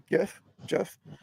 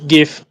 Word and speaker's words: GIF: together as um um GI Jeff from um yeah yeah everybody everybody pronounces differently depending where they come from me GIF like so um yeah